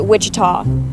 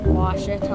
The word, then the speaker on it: Ouachita: for wasita Baptist University back in Texas everybody pronounces it Witchita but really it's was was how would you pronounce it was it's was Baptist University get it right it's